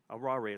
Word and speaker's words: aware: And I said, well, how do you spell that? He says, Aware. I said, aware? He says, arare. He says, not aware.